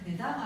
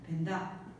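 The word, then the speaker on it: བོད་ཟླ: 그래서 읽을 때는 되다가 아니고 벤다라고 읽습니다. 벤다 그러면 티벳역으로 어떻게 몇 월 며칠은 구정이다 뭐 이렇게 쓰죠.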